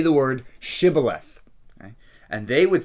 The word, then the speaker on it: shibboleth: says say the word shibboleth and they would say the word sybileth okay shibboleth civilized okay what's the difference well because shibala they can't pronounce the sh they just say sybileth okay so they said